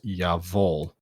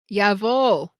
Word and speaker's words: Jawohl: Side note, upon further inspection and research, it is pronounced Yavol. Jawohl. Jawohl. Damn, Whoops. I should have put a pronunciation guide in there, but I didn't. Jawohl, Commandant.